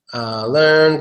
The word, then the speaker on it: learn: that's a good one some people say yen yen let's do this one learn cuz you're right a lot of people say lad I'm land actually learn is one sound with the EA is